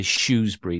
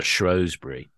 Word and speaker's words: Shrewsbury: So I'm saying Shrewsbury. You'll find that the locals say Shrewsbury. There's no R in it. Oh, right. Okay. It's never Shrewsbury.